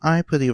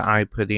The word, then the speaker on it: Aipri: I kind of pronounce Aipri with a Japanese accent to try to stay faithful to the way that's pronounced in the anime.